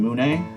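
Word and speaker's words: Mune: It's similar to what you would find in Moon, or Moon. How do you pronounce that anyway? M-U-N-E. Matey Uppy Namey Emulator.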